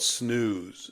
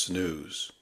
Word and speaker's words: snus: But I came across a story about a thing called snooze, SNUS. I think it's pronounced snooze.